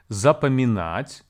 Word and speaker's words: запоминать: Запоминать has four syllables. За, по, ми, нать. Please be advised that the second syllable по is actually pronounced as pa in the spoken Russian. And the stress here falls on the last syllable.